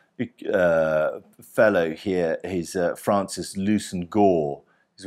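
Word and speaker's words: Leveson-Gower: fellow here is Francis Lucen Gore is one of those English names that you sort of don't pronounce as you spell it it looks like it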